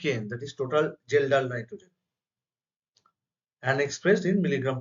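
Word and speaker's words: Kjeldahl: tkn that is total gelal nitrogen K is silent in domestic Su is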